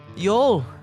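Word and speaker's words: Yole: Uh Yol is his name. Y O L E. The E is silent.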